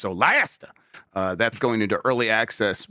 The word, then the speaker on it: Solasta: It got a trailer, and Solasta 2, which I think is pronounced Solasta.